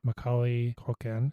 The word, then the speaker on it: Macaulay Culkin: Macaulay Culkin, Joe Pesci, Daniel Stern, John Hurd, and Catherine O'Hara.